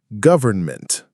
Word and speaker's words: government: Our penultimate word is government. Government. That's an important word. I often forget to say the N.